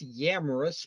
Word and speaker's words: Yamrus: As usual, people butchered my name. It's Yamrus, but that's fine.